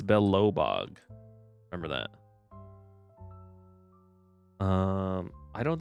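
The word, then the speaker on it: Belobog: I spelled it with every wrong syllable. I spelled Belellbog. Belellabog. It's Belobbog.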